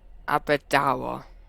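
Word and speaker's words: Aberdour: leave the train okay so it looked like I said it wrong it's Abida I knew it was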